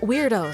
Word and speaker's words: Wyrdos: No, weirdos spelled with a Y.